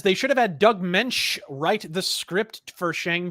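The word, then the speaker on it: Moench: mensch really is that is that how you pronounce it doug mensch well some people it's munch you know it depends how they decide if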